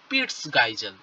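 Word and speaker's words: Peitschgeissel: ঠিক আছে, অ্যাক্রোনিমাটিক ফ্ল্যাজেলা, বা একেই আরেকটা নামে ডাকা হয়, একেই বলা হয় পিটস গাইজেল। কি বলা হয়? পিটস গাইজেল। পিইআইটি। ঠিক আছে, পিইআইটি ভালো করে বানানটা দেখবে, পিইআইটি সিএইচ জিইআইএসিএল।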